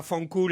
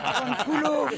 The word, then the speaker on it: Fanculo: Oui, et va fancoule, je l'ai bien dit. Fanculo, tu l'as mal dit.